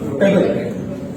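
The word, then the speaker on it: pebble: क्या हम इसे ये कह सकते हैं? क्या ये सही है? This is not right, actually this is going to बी पेबल।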